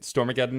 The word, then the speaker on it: Stormageddon: Is it Stormageddon? Stormageddon is correct.